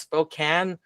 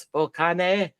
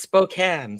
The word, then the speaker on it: Spokane: Yes, that's pronounced Spokane. I've heard it pronounced Spokane. Spokane. No, it's Spokane.